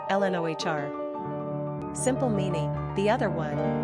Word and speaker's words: Lenore: gender girl origin English number of syllables two ranking popularity not applicable pronunciation Ln Ohr simple meaning the other